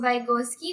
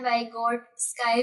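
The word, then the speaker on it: Выготский: इसको वगोत्सकी भी कहते हैं और हमारी अब मैंने आके इसकी प्रोनाउंसिएशन सुनी है। वग स्काई भी कहते हैं।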